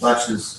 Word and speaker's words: laches: Like, and it's even spelled with a CHES without the T, right? LACHESSE, latches, Latches. Oh. and it's French. Huh? And so they just dropped the SC and now it's English. And it's latches.